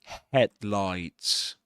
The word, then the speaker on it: headlights: We in the word headlights we accent the first um syllable head. The headlights. The headlights. And this is because this word is actually a compound noun. It's made up out of two nouns head and lights. And in compound nouns, we in English, we stress the first item in the comp in in the the first word in the item. That's what I meant to say in this case, headlights.